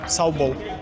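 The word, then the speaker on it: Сау бол: How do you pronounce it? Saubol. Sabo. Saubol. Sao. Bo.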